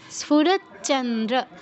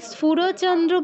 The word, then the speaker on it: স্ফুরচ্চন্দ্র: এরপরও বলছি, দেখুন স্ফুরচ্চ, দুটো চ আছে, দুটো চ আছে, আমরা কেউ একটি চ এর উচ্চারণ করব না, একটু জোর দিয়ে দুটো চ এর উচ্চারণ করতে হবে। স্ফুরচ্চ, স্ফুরচ্চন্দ্র, স্ফুরচ্চন্দ্র, দুটো চ আছে, এটি বুঝাতে হবে। আমি যদি স্ফুরচন্দ্র বলি তাহলে কিন্তু ভুল হবে।